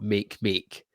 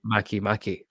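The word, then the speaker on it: Makemake: you'll find them but it's not how you actually pronounce they I've been corrected on this it's not make make it's macki macki thank you um they're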